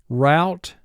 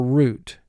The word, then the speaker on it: route: In either case, both pronunciations contain 3 sounds, r, ow, or oo, and the third sound, t.